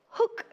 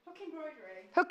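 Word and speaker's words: Huck: creations so we've got hook stitch or hook embroidery what's the what how's it spelled H uck but we can pronounce it hook so this is well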